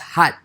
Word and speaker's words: khat: day so a main topic of today is cut cut no no it cut its key niche 80 but it's pronounced hot it's pronounced hot but yes but what is